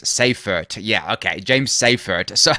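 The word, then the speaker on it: Seyffart: quickly and see so how you pronounce it is safeer yeah okay James safer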